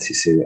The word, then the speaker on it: Sisu: it's the it's pronounced sisu and it's a finnish word and and we chose